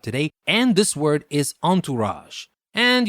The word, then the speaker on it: entourage: and this word is Entourage and you might say that word sounds French well it is actually because it comes from French entourage is spelled e n